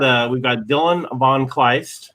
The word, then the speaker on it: Dylan von Kleist: So anyway, so everybody, we've got Dylan von Kleist, right? I pronounced your name right, correct?